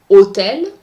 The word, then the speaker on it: hôtel: Do not pronounce the H at the beginning of a word. This is a big difference between English and French. In French, the H is always silent. Par exemple, hôtel, hôpital.